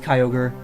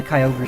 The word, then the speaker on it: Kyogre: Same with Kyogre.